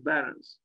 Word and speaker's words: Behrens: Northampton by Peter pet I guess we should pronounce his name he was German and not English pet Barons this was built in